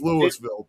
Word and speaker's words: Louisville: if you come from Louisville, Kentucky, that city, but we may have the exact same name, but that's not how we pronounce it over here. It's Louisville, period."